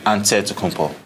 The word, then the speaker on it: Antetokounmpo: In the Greek way, you gotta say with a D, so it's Antetokounmpo. But in the Greek way, you say with the NT, like Antetokounmpo.